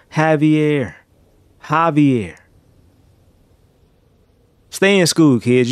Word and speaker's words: Javier: operation High VR Javier I said hi VR like caviar it's operation Javier Javier stay in school